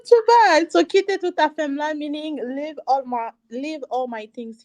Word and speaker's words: Kite Tout Afem: So Kite Tout Afem, meaning leave all my things here.